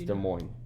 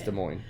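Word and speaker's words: Des Moines: It's de mo. Are you sure? 100,000%. I know. I just don't like it. It's de mo.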